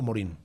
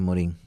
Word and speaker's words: Morin: Bueno, ¿Edgar Morin o Morin? Ambas cosas se puede pronunciar. Generalmente se le dice Morin, pero se tiene también desde el acento francés Morin, pero más que todo Morin.